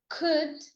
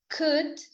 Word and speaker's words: could: The L is silent in would, could, and should. Could would should could.